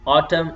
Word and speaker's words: autumn: going to pronounce and let me say column damn solemn autumn ATC and when P comes with you know s T or n you are not going to pronounce then P P will be silent like we say some